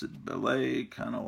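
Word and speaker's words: Bêlit: with Pirate Queen named, I always read the comic that her name was pronounced Bele, and then Paulo was telling us that it really should be pronounced Bellet, according to the accent mark on there.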